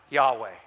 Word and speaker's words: Yahweh: am who I am in the Hebrew it is pronounced Yahweh it is why for